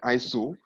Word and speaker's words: ISO: call it you know so that you can pronounce it like iso so that's why they